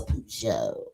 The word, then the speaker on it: Peugeot: Yeah, they didn't know how to say it. Peugeot. He talking about it's a Peugeot. Get it right.